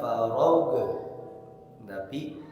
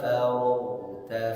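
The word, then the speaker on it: فَرَغْتَ: saja ini ayat keet7 banyak yang keliru ketika mengucapkan g sukun faidza farag farag tidak boleh memantul mengucapkan o seperti Dalam surah al-Fatihah hadirin, giril magdu magdu bukan mage. Ini pun jangan membacanya faidza farag, tapi faidza faragta fansob. Faidza faragta fansob. Far mengalir sedikit.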